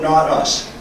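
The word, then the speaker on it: Nautus: While standing on the bridge of the tugboat Not Us, now Not Us is spelled N-A-U-T-U-S, my cell phone chimed showing a text message from my cousin Wayne.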